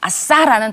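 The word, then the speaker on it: עשה: 단어 하나 배워 볼까요 아싸라는 단어예요 우리는 어떨 때 아싸 하죠 아 신난다 아싸 뭐 이런 거 하죠 근데 발음은 똑같아요 뜻은 달라도이 아싸라는 단어는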